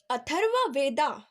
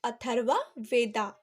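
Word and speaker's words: Atharva Veda: अथर्व वेदा. Okay, English में हम कहते हैं अथर्व वेदा और हिंदी में हम इसे कहते हैं अथर्व वेद.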